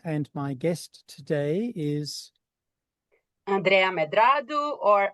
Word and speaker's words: Andrea Medrado: My name is Toby Miller, and my guest today is Andrea Medrado or Andrea Medrado, the way to pronounce it in the Anglophone world.